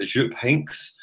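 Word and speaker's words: Jupp Heynckes: surprised us all by going for 73 year-old Azure pinks that's how you say it you have a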